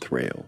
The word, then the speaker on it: Thrayle: It's pronounced Thrayle. I'm going to go ahead and mute you since you're not mature enough to carry on an adult conversation.